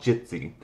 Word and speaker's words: Jitsi: It's called Jitsi. You can do a search for it. It's J-I-T-S-I. I think that's how you pronounce it.